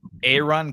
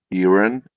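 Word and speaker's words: Eiran: Aaron. Aaron. Let me ask my friend. Here, Scruffy's got it. There you go. Like Aaron? Cashin. Probably. It's probably pronounced like AARON.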